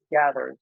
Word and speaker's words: Gathr: It's Gather, so it's spelled Gathr.